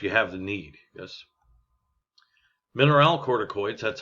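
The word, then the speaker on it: mineralocorticoid: you know if you have the need yes mineral corticoids that's how that's pronounced in sex hormones the chief mineral corticoid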